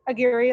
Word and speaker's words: Aguirre: so Aguirre, that's right. Well, that's the English pronunciation because we don't do the Spanish pronunciation, but it's my dad's name from Uruguay.